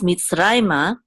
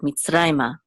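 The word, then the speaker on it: מצרימה: Now, so it's mitzrayma, and because the accent is on rai right here, this is where we'll have the emphasis of the word mitzrayma.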